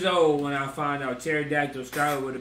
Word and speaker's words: pterodactyl: do you spell pterodactyl why in the does pterodactyl start with a p why i don't get the i don't get the the silent p like we don't need that we don't need no silence if it's silent why is it there pterodactyl and you put a p in front of it that don't make [